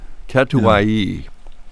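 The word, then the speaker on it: Catuaí: This is a natural yellow katai. No, not katu bone. Kai kato katoi. Katui. Katuayi. Yeah. All the all the all the letters are pronounced.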